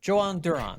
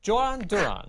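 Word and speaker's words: Jhoan Durán: Joan Duran.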